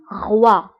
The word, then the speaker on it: roi: OI كنطقوها ب wa. wa. Exemple roi. roi هو الملك.